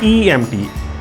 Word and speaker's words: IMT: ये वाला ये जो IMT नज़र आ रहा है आपको, ये पुर्तगीज़ के अंदर प्रोनाउंस होता है EMT, आई को ई पढ़ा जाता है।